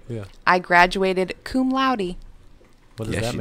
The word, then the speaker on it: cum laude: I thought it was cum laude, That's what I thought. Yeah. Cum laude. but apparently it's cum laude rhymes with rowdy.